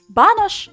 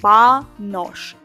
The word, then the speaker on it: banush: Banush translates and pronounced simply like banush. Banush чи banosh. This is the same.